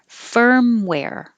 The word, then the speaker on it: firmware: contraction and with words firmware this is the er why do i have the wrong uh the stressed vowel is the er combination er firmware and the second part is where like air where firmware and number five